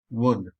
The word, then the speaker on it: would: oh and this is da so that is wood and this is what the so that should be pronounced as wouldn't and not wouldn't there is